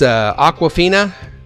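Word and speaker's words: Awkwafina: next week's show believe it's it's Aquafina am i right that's how you pronounce it yeah I did aquafina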